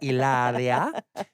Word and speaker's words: Hilaria: Of course, you don't pronounce the H. It's Hilaria.